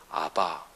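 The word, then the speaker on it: אבא: 아빠, 이게 아람어 발음으로 아랍이 아니고 아람어 발음으로 아바 이렇게 발음해요.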